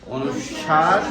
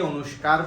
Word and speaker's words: অনুস্বার: অনুস্বার, বিসর্গ, চন্দ্রবিন্দু। এটাকে আমরা হয়তো অনেকে অনুস্কার পড়েছি কিনা, কেউ কি অনুস্কার পড়েছে? হ্যাঁ, অনুস্কার হবে না, এটা হচ্ছে অনুস্বার।